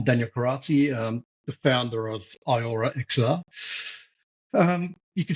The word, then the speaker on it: eyeora: So, kind of like Rita Ora, but eyeora.